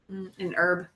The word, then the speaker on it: herb: the name herb yes we do not try to pronounce the H here herb herbs what's your question